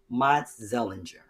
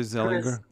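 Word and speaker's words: Matzeliger: it's m-a-t-z-e-l-i-g-e-r so i'm it's german and dutch mott zellinger you think that's zellinger i would say zeliger sellinger yeah anyway i'm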